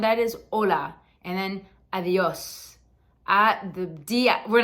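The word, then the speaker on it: adiós: is hola and then adios We're not gonna get too complicated here it's almost like a light th the the like they avios if you want to think of it like that it'll be great but just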